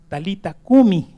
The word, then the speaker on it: Talita cumi: la segunda que es talita cumi así se pone en en griego se se pronuncia así talita cumi pero el en hebreo es talita cum talita cum y talita